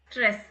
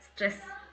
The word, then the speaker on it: Stress: ஸ்ட்ரெஸ் இது வந்து short, இந்த இ வந்து ஷார்ட், ஸ்ட்ரெஸ்.